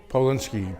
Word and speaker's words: Polinski: And spell it, please. B-E-R-N-I-E. Bernie. And your name? And last name? Polinski, P-O-L-I-N-S-K-I.